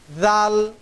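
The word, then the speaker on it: ذال: এই হরফটার উচ্চারণ হবে জিহ্বার আগা সামনের উপরের 2 দাঁতের আগার সাথে সম্পৃক্ত হয়ে এই হরফটির উচ্চারণ হবে জাল জাল জাল।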